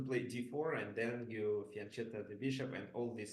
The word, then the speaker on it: fianchetto: what do you guys how it's better to pronounce faneta or faneta because originally this is Italian word and in Italian it sounds faneta similar as it sounds in Russian however uh most of